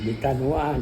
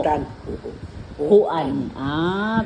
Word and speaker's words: Bitanhuan: Bitanuan. Bitanuan, bye-bye Leyte. Dapat nung bata ko, sinali mo ako sa Miss Bitanuan eh. Wala. Ano ba ang tamang pronounce? Bitanuan o Bitanhuan? Bitan. Huo. Bitan. Huan. Bitanhuan.